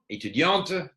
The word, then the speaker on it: étudiante: student, and étudiante, and sometimes you need to emphasize that étudiante. Don't be reluctant to pronounce the at the end of a word that's actually quite sophisticated in French.